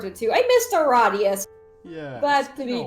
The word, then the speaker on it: Aradia: Now Aradia. It is pronounced Yes, Aradia. it is pronounced Aradia.